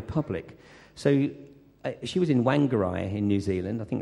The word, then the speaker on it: Whangarei: So she was in Whangarei in New Zealand, I think that's how you pronounce it. And, how'd you say it? Whangarei, yeah, that'll work.